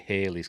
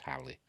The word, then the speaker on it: Halley: way to Halley's Comet they call it Haley's Comet in this but it's pronounced Howley uh out of Stephen Fry once said um I think it would actually be pronounced wholly in in uh in